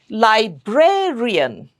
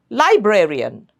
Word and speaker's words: librarian: Librarian. Don't say librarian or flat, librarian. No, librarian.